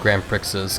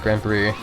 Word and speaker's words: Grand Prix: um Grand Prix like Grand Prickses cuz I I assume that's how you're supposed to pronounce it back then. But um yeah, know apparently the X is just silent and it's pronounced Grand Prix.